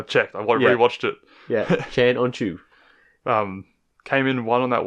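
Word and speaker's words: Can Öncü: Yeah, that's how they pronounce it on the. I checked. I rewatched it. Yeah, Chan On Chu.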